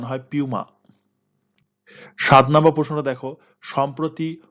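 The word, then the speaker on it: Puma: পুমা ইন্ডিয়ার নতুন brand ambassador করা হয়েছে এটা পুমা উচ্চারণায় উচ্চারণ হয় পিউমা সাত নাম্বার প্রশ্নটা দেখো সম্প্রতি ওয়ার্ল্ড মনুমেন্টস ফান্ড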